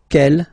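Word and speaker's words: quel: for the phonetics okay the way to pronounce them Kell masculine form here will be pronounced exactly as the feminine form here G so only one sound okay and then the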